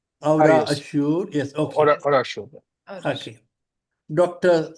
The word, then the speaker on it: Aurassure: Am I pronouncing it correctly? Aurassure.